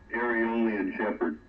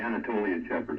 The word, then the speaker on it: Anatolian Shepherd: No, it's a Aeolian Shepherd. Or excuse me, Anatolian Shepherd. I mispronounced it.